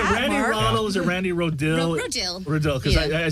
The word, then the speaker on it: Rodil: not just SI actually my last name is Rodell Randy Rod kind of like rildo but really